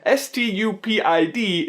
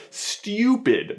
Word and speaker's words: stupid: The famous example of a liquid U is that the word S-T-U-P-I-D is actually pronounced stupid, but people ironically mispronounce it as stupid, which personally I think by definition the word stupid should be mispronounced, right?